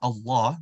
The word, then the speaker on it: Allah: So the name Allah, if you notice that lam is always going to be stretched.